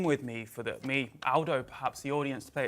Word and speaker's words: Aldo: he picked me up but it's Aldo not older Aldo's a very British pronunciation in Italian uh good to see